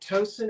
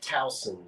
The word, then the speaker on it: Towson: Now, is it Towson or Towson? Towson. I didn't know that. See, it's different everywhere. But in Maryland, they call it Towson. We say Towson.